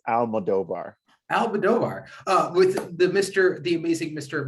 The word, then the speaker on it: Almodovar: How do I actually pronounce your last name? I'm actually don't want to mispronounce it. That's all right. It's Almodovar.